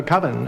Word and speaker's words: Coven: is koven Ken uh coven that's the proper pronunciation no no coven sounds like Oven Man and that's just